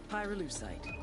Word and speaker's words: pyrolucite: Pyrolucite, key syllable pyro, by the way, is the they mine in Via Verde Province to turn cocoa leaves into highquality cocaine.